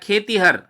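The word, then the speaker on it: खेतिहर: उन्होंने शब्द लिखा है खेतीहर, अब दबाव बदल गया, ई के स्वर पर दबाव कम हो गया, खेतीहर, तो ई ह्रस्व होगा, खेती में ई दीर्घ होगा।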